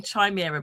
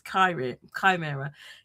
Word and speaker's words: chimera: I keep saying chimera, but it's chimera.